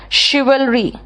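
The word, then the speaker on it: chivalry: शिवरी जो है ना इसका स्पेलिंग होगा सी एच आई वी ए एल आर वाई तभी तो कह रही हूं मैं यह इतना आसान नहीं है अब एक तो स्पेलिंग ऐसा बिगाड़ देगा कि आप पहचान नहीं पाओगे अगर आपने दो चार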